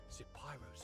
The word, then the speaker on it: Zapyro: Zapyro, 3 syllables of pure poetry, the spark of my words, the pyre of my soul, my sin and my salvation.